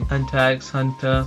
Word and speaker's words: Hunter x Hunter: Hunter x Hunter, is the X is silent, obviously I know.